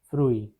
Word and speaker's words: fruit: The pronunciation is fruit.